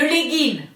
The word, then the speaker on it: legging: Le legging, dit-elle, sans prononcer le G, volontairement, d'accord, le legging, bon, mais avec quelque chose autour de la taille, hein.